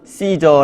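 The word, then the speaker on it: Caesar: 하는 바로 그가 이사입니다 영어로는 씨저 라고 발음을 하고 성경에는 카이사르 라고 발음을 합니다 카이사르는 고리 녹아 전략적으로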